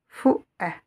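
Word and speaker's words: فؤاد: Donc, je ne prononce pas cette lettre waouh, mais je regarde cette lettre hamza avec la voyelle E. Donc, je vais la lire E. Fou'ad.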